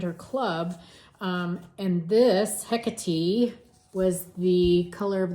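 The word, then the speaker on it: Hecate: so I joined her Club um and this hecky was was the color of the month for October is it he or is it heate no it's HEC I looked it up in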